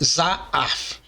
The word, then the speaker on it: Zahav: Simplificando, ela é lida como Zaaf e significa ouro.